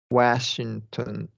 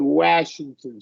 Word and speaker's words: Washington: sounded like you said Washington State. Oh, okay, that's right. A is like a kind of a, yeah, not After a lax. W, yeah, W, yeah. it is lax.